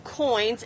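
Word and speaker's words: quoins: bricks were left open, creating open coins. And if you know any architecture, it's spelled Q-U-I-O, not like money coins.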